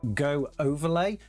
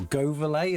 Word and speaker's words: Goverlay: In Ubuntu, you can just simply get a tool called Go Overlay, or Goverlay as I think they actually pronounce it, and that will actually